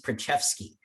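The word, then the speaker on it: Preczewski: pronounced it uh and he pronounced this one uh usabionum versus prachefsky and this case is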